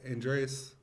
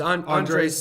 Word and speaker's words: Andres: Is that Andreas? I don't want to pronounce his name. It's Andres Sanchez.